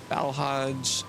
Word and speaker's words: Balhaj: In fact, Balhaj is pronounced like blowhard.